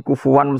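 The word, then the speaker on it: كُفُوًا: Itu ada 3 qiraah kufuan, kufan, kufu. Alfatnya beda, tapi maknanya sama.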